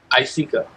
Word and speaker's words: Isika: Isika? How you I, pronounce this? I seek, Isika. I seek her.